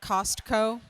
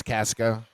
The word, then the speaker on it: Casco: Casco Bay? Casco Bay. Not Costco, which would be different. No, we don't do Costco. It's Casco.